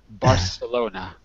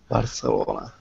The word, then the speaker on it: Barcelona: No. You have to say it like we do. Barcelona. Barcelona.